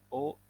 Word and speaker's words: aux: Nah, kita baca Jabit O États-Unis. Jabit O États-Unis. Kita lihat kenapa dia O, karena dia jamak atau plurial. Dibacanya O États-Unis karena di belakangnya ada X. Jadi disambung bacanya.